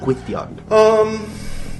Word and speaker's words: Gwydion: For the authentic Welsh pronunciation of my name. Gwydion.